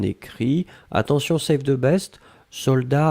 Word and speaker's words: soldat: Je regarde, vous l'avez bien écrit, attention save the best, soldat avec un T final, on ne prononce pas le T, mais logiquement il devrait être là, d'accord?